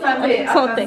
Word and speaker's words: santé: A santé. Santé. What is it? What's the right way to pronounce it?